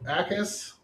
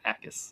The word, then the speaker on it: Jacas: Okay, so Acas. Is it really Acas? The J is silent? It's a very soft J. Yeah. What do you mean a soft J? Like the K in knife.